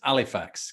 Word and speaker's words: Halifax: was at school in halifax or pronounced when i was there as alifax because the h always drops off they used to say